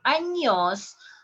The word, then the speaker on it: años: I have this example here, años, años. Look here, NY, años, años. A little bit stronger with the Y in there.